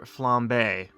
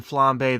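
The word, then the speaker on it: flambé: know how it's pronounced it's Dr flambe as in flambe the cooking term like cooking F oh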